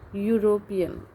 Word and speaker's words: European: So this word starting with vowel, but the pronunciation of this word it start with consonants. A European, European, a university.